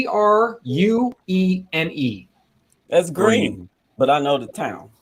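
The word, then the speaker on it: Gruene: pronounce this how would you pronounce this uh it's spelled g g-r-u-e-n-e that's green but i know the town that's why that's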